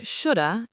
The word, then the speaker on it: should have: Try to practice saying shoulda and shoulda when you are speaking quickly.